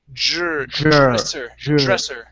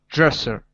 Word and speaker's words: dresser: dresser dresser excellent okay so whenever you have a dr paired together pronounce a j it will help you to pronounce the r okay i know it